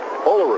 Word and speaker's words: Olaru: very nice score now Maria fararu as bellu says our Romanian interpreter says olaru no matter how you say it she's one of the